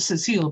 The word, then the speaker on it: Cecile: And his daughter, Cecil, is spelled Cecile, but is actually pronounced Cecil, according to the Walton family, designs the publicity for it.